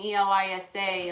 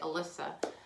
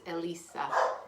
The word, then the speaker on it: Elisa: uh saw my name e-l-i-s-a a lot of times people say alyssa but it's not it's elisa elisa and karen was kind